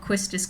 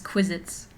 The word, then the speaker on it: Quistis: at one point and called Quistis Quizits, and I was like, Sari, it's Quistis. Like, I've always said Quizits, and I'm like, that's not how it's spelled.